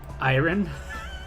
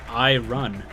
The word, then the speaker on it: iron: on it they're like you're supposed to say iron and i'm like i don't know if i look how it's spelled it's i run well iran but you